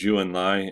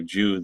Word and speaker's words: Zhou Enlai: His name is Zhou Enlai, and just to say something again about pronunciation, is Chinese doesn't translate exactly or even close to very well into English.